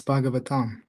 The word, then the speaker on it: Bhagavatam: That's Bhagavatam. Yes. My Okay. bad. I butchered the pronunciation.